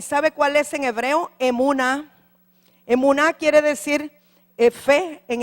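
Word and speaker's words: אמונה: en griego, y sabe cuál es en hebreo, emuná. Emuná quiere decir fe en hebreo y pistis en griego. Sí, se escribe E-M-U-N-A-H, Escuela Ministerio Un Nuevo Amanecer de Honduras.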